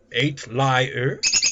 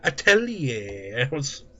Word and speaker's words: atelier: It's pronounced 8 lie with an R at the end. What? 8 liar? No. Atelier.